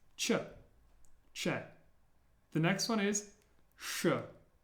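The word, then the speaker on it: Ч: The first one is pronounced che. Che. As in watch. Che. Like a CH sound.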